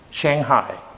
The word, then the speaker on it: Shanghai: The correct pronunciation for this is Shanghai. Shanghai.